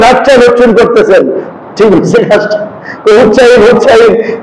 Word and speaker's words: হুসাইন: হুসাইন হুসাইন, হাইসান হাইসান হাইসান, আচ্ছা নামটা উচ্চারণ করা, এটা আদব হয়েছে না বেয়াদব হয়েছে?